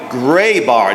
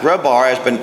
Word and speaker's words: Grabar: All right, ladies and gentlemen, I'm very honored and privileged to introduce our next instructor, Dr. Mary Grabar, not Grabar. I've been mispronouncing it since I first communicated with you.